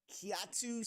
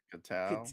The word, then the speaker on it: Kitao: So this story says Kiatu Sakura. No, that's not how you pronounce that. Kitao? Evan? Like way off. Sorry, James. Sorry, I don't know why I pronounced that so weird. No, it's Kitao.